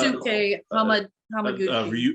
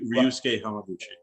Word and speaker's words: Ryusuke Hamaguchi: all had semi-longer names, but you got to pronounce Ryusuke Hamaguchi. Ryusuke Hamaguchi.